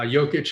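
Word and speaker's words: Jokić: and they want to play joke together uh jokic excuse me i know that the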